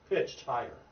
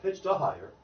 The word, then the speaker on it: pitched higher: So it's not pitched a higher. That's not a word.